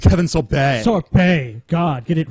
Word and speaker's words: Sorbo: about Kevin Sorbo Kevin sorbet Kevin sorbet it's pronounced Kevin sorbet sorb God get it right sorry this is